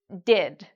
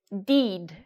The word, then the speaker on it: did: The past tense of "do" is: "did", "did". So, we have, here, a short "i" sound. Many students mispronounce this word specifically; many students say: "deed", like, where they make a very long "e" sound, but that's not correct for this sound.